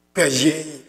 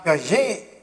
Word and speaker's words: Piaget: Let us pronounce his name the friend's way. Let us give his name the friend's pronunciation. So, Jean Piaget.